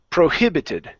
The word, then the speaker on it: prohibited: we have the word prohibited stress in the middle prohibited prohibited okay one more time